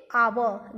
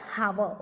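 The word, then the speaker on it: hour: We will pronounce it आवर, नॉट हावर. Okay, we will pronounce it आवर. इसका जो pronunciation है वो आवर से होता है, ठीक है. इसमें एच जो होता है ये साइलेंट होता है, ठीक है बेटा.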